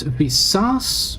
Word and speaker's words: Visas: It's Visas with accent on the second syllable and it's I like an E, not like in Jedi. Okay. So, visas. So, the I is more like the uh the I in a lot of European languages.